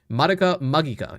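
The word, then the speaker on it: Madoka Magica: How did this guy mess up pronouncing madaka magika but nailed vulpishna? What? I I was reading it in the Japanese way. Maka magika is the correct pronunciation because that is how it is pronounced in Japanese.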